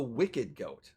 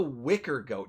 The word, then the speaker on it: Wicker Goat: you know it's the wicked goat okay Wicked goat yeah the wicked goat but uh Goblin ambulance um uh Telco it's the Wicker goat he's mispronouncing it oh okay oh and